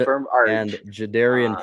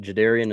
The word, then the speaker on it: Jadarian: Kurt Cousins and Jadarian Price. They get Jadarian in the second round of the draft. Or I guess I just saw on the combine he pronounces his name Jadarian, not Jadarian.